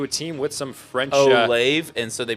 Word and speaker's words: Olave: Olave, man, he is literally one letter from Olive. Oh, yeah. One letter that separates them, and then you pronounce the E as well.